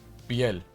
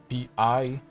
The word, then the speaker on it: piel: Piel, like Piel. So it's like pie, but then you add an L to the to the end.